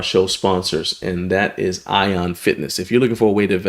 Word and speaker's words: Aion: Right here, you want to go to Ion It's the best way to invest on the market.